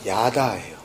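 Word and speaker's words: ידה: 때문에 굳이 구분 하자면 알다 깨닫다 하나가 되다 예 그 야는 그냥 야다 이게 좀 짧게 끊어져요 뭐 굳이 분을 하자면 그런데 지금 감사하다 고백하다 찬양하다 뒤에 해가 있기 때문에 발음이 좀 장음으로 다라고 좀 이렇게 길게 되어지는 발음이에요 하여튼 그까 오늘 1절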